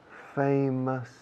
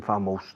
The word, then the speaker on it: famous: Paris is a very famous, fijaos en la pronunciación, por favor, famous. Hay gente que lleva 10 años con el inglés viviendo fuera y dicen famous todavía. Famous.